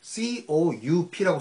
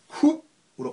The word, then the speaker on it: coup: 권좌에서 쫓겨났다라고 할 때는 군사 구테타가 영어로 물론 스펠링은 COUP라고 쓰지만 이것을 coup으로 발음하는 순간 미국 친구와 우정에 금이 가버리죠.